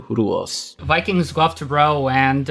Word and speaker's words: Rus: heard from again and the original pronunciation of Rus is closer to ruos Vikings go to row